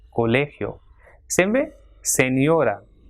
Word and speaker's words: colegio: So it has got 3 syllables, colegio. So the stress will be on le, colegio.